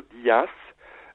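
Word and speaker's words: Δίας: muss auch wissen also Zeus wird eigentlich in Griechenland nie als Zeus ausgesprochen oder als sefs sondern eigentlich immer als dia und dir oder Dias bedeutet im griechische wiederum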